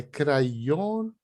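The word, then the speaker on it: krajono: Para destacar bem a terminação das palavras, faça pequena pausa na sílaba tônica. Mas não é pausa para não falar o resto, não, hein? É crayono. Então, você só enfatiza crayono. Você dá uma pequena pausa e aí a palavra ela sai correta, né?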